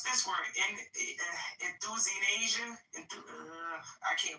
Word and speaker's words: euthanasia: Euthanasia? I can't pronounce that. Euthanasia, so the E is silent.